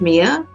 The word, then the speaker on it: Mea: which is pronounced so it's pronounced Mia as his surname is but it's mea and it stands for